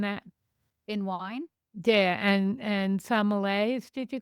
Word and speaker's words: sommelier: taster, and You're a sommelier. I forgot that. yeah, I did take it in that direction. But before I did the sommelier, Oh, I said it wrong. Sommelier.